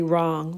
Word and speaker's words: wrong: misspelled words as totally wrong like I would never say wrong wrong is not spelled like this r o n g it is spelled with a silent w at the front and you would never